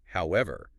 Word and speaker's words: however: When you use a word like however to show contrast, which part do you stress to make the contrast clear? You got to stress that first syllable. Hey, w ever.